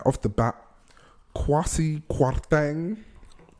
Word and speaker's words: Kwasi Kwarteng: Right off the bat, Kwasi Kwarteng. Oh, is that the pronunciation? Yes, it is. Is he South African? It's a Ghanaian name.